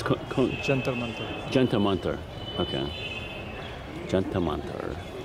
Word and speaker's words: Jantar Mantar: And how do you pronounce the observatory? It's Jantar Mantar.